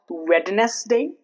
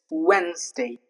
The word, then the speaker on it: Wednesday: When N and D comes together, the letter D remains silent. Okay. For example, Wednesday. It's not wetness day. It's Wednesday. Next example.